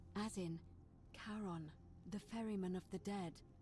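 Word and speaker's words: Charon: It's just as you described it, only your pronunciation is a little off. The name you heard wasn't Karen. It was C H. Ah, Karen indeed. As in Karon, the fairyman of the dead.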